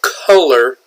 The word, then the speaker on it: color: What color is my shirt? Color is spelled C-O-L-O-R.